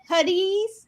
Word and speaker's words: Huttese: And apparently the little girl in the ship, in the commercial airliner, said something in Huttese. Is that how you say it? Huttese. Yeah, Huttese. I think she said like incredible or something like that when she saw him outside.